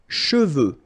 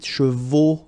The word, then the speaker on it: cheveux: Final X is not pronounced.